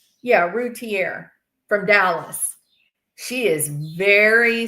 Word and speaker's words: Routier: Is that how you pronounce it? Routier? Yeah, Routier from Dallas.